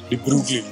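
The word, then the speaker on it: de Broglie: It's actually pronounced Debrugli.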